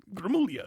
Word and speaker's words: Gramuglia: one the villain had second g is silent though okay I don't